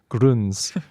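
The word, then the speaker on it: Grüns: It has a It has the the two dots over the over the U, the umlaut over the U. Gruns. You know it's not German.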